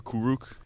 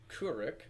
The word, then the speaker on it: Kuruk: They actually changed the pronunciation of his name, because in the original show it was Kuruk, like an sound, but now it's Kuruk.